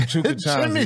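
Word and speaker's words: Chukchansi: Chukinchanzi, there it is. Yeah, there you go. You pronounced That's a great it right.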